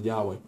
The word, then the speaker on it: Yahweh: I am or Yahweh or y-h-wh which really pronounces Yahweh God's name really is most holy name it's